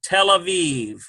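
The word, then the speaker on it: תל אביב: So we've got tail, ends with the L, tail. This is a silent letter and an A sound. So we have A, V sound, vet, E. This is all part of the E. Aviv, Tel Aviv.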